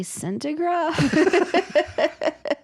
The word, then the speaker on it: sentegraph: But I'd like to make sure that everyone understands that when we say centigraph, yeah, the way you spell that is SENTEGRAPH. It's not CENTI, which would mean 100. You're correct.